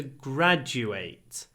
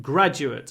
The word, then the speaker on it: graduate: the verb is to graduate so the stress in graduate and graduate are both on the first syllable but the last syllable changes when did you graduate